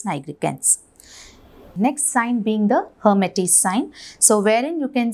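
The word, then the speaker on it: Lhermitte: is called as a hermitage sign the l is silent so this is seen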